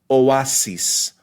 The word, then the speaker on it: oasis: distinct syllables another word the word for Oasis Oasis Oasis so the the word has three syllables right the first two